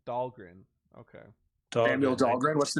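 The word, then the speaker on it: Dhalgren: Samuel Delaney yeah oh okay how do you pronounce it um Dahlgren Dahlgren okay what's the name um well it's Samuel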